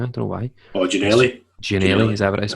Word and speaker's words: Ginnelly: Gianelli, is that what it is? Aye.